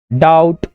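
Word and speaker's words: doubt: बी में B silent कहाँ कहाँ होता है, फॉर्म, थम, डाउट, डेप्थ, इन सभी में बी साइलेंट होता है।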